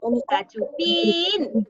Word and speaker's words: Cachupín: ¡Cachupín! ¿Cuál es la sílaba tónica de Cachupín? ¡Pi! ¡Cachupín! Muy bien.